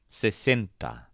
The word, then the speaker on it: sesenta: But the word for 60 doesn't have any bent sounds. All the vowels are short and crisp, and the stressed syllable sounds like cent. Sesenta.